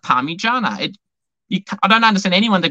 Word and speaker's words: Parmigiana: And it's pronounced Parmigiana.